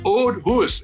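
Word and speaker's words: Auld Hoose: unusual scottish words but they spell it diane a u l d huss h double o s e the old huss and if you're ever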